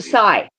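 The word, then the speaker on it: scythe: and cut the um it's a sigh okay a sigh so she yeah pronounced sa yeah or some would say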